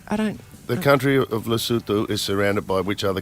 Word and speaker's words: Lesotho: The country of Lesotho is surrounded by which other country?